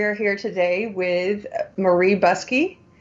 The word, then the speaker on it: Buscke: here today with Murray busky it's pronounced busky like car key bus key Murray is a 1